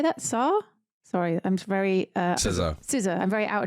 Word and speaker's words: SZA: or SZA or I don't know how you pronounced it. She's very Russian. Well, it's SZA.